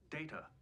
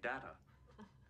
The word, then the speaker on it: Data: It is pronounced Data. Oh? You called me Data. What's the difference? One is my name. The other is not.